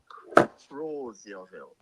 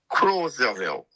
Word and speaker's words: Crozierville: The correct pronunciation is Crozierville. Come again? C-R-O. Crozierville.